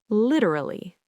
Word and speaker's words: literally: Literally.